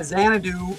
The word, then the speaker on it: Xanadu: Why did it have an X spelling but Z pronunciation? That's a good question. Why does X have any pronunciation besides X? Yeah, Xanadu.